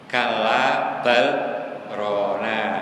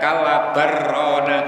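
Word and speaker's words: كلا بل ران: Tidak boleh dibaca kalla barrona gitu, tidak boleh. Itu nek dilanjutkan lamnya hilang karena idgham balrona menjadi barrona gitu. Itu nek dilanjutkan. Tetapi cara membacanya harus sakta, kalla balrona lah gitu.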